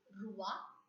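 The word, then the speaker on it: roi: to remember quickly that o i in French has to be pronounced as wa Rua MUA this is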